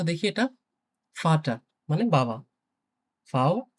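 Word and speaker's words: Vater: ওকে, এরপরে দেখি ফাও, ফাওটা আমরা বাংলায় যে ফ থাকে, ফ এর মতো উচ্চারণ হয় ইউজুয়ালি। তো দেখি এটা ফাটা মানে বাবা।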